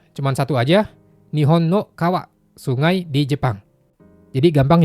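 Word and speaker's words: 川: Contohnya cuma satu aja, Nihon no kawa, sungai di Jepang. Jadi gampang ya. Yang penting teman-teman hafal, kanji ini bacanya kawa, artinya sungai. Udah, itu aja.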